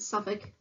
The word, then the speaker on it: Suffolk: The last one is a Suffolk sheep. It's pronounced just like that. The L is silent, Suffolk.